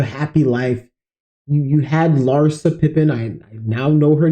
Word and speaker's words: Larsa: life you you had Larsa Pippin I now know her name I can pronounce her name now it's Larson not Larissa I don't know why